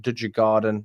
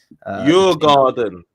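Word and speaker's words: Djurgården: game on Thursday against Duda Garden, if I pronounced that right. Your garden. Your garden. Think your garden. Your back garden. Your garden. Your Swedish garden. There you go.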